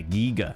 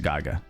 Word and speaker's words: Giger: Mystery unsolved. Yeah, giger. Okay, cool, cool, cool. I will do my best to remember that as I have always pronounced it geer, but I definitely have